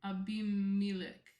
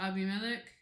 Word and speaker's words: Abimelech: Abimelech.